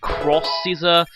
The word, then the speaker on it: X-Scissor: But X-Scissor is going to be a whole lot more useful. Some people apparently pronounce it Cross-Scissor. It's the whole Capcom crossover terminology.